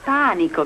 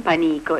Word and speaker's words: panico: al panico che cosa panico si legge nei vari panico caro e non panico e significa paura terrore